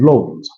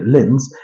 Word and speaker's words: Lens: be up against while RC Long or as some people prefer to pronounce it the English way Lens will be up against Olympic